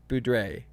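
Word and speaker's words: Boudreaux: It's on the same account, but it's She said, yeah, it's pronounced Boudrex. No, Drakes or Boudre. Boudre? You do not say the X.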